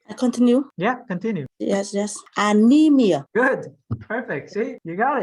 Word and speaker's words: anemia: one first anemia good anemia and then the the the emphasis on the on the third syllable so yeah there's no